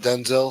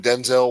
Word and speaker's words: Denzel: Denzel said, "My name is not pronounced Denzel." Denzel instead of Denzel. Washington said his name correctly and clipped the second syllable to sound like Denzel.